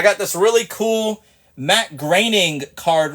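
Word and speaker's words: Groening: you say his name a lot of people say groaning but it's graining and he is the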